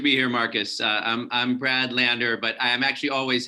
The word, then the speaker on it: Lander: And so we're going to bring up Councilman Brad Levins.